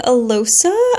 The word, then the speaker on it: Alosa: Alosa, I think is how you say the FMC's name, gets